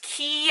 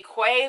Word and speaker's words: Quay: a lot it's pronounced key I like to say Quay for some reason because to me that's how it's spelled but it is key Australia a lot of